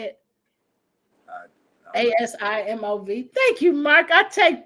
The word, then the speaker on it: Asimov: Asimov.